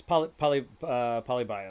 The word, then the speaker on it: Polybius: Polybius. Bias? Polybius.